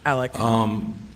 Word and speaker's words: Alec: It's pronounced Alec. Some people call him Alex.